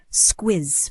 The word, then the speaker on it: squiz: Someone might say, "Have a squiz at the menu before you order," and the double Z just gives it that sharp, buzzing finish.